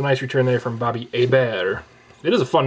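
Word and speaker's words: Hebert: first off um former uh Saints quarterback Bobby a bear no R which I find fascinating you know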